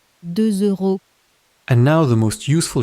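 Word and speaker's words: deux euros: 2 euros. On paper, that S at the end is silent, but in front of a vowel, it wakes up as a Z.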